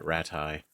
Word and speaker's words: Rattay: And it seems in I'm gonna pronounce the way Henry pronounces it, Rattay.